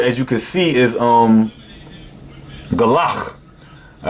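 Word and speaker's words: גלח: And the word, as you can see, is galach. All right, this is how you say it in the modern Hebrew.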